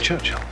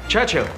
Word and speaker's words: Churchill: sir James's visit his Church Hill Churchill that's how you say it allog together like that I'd heard church and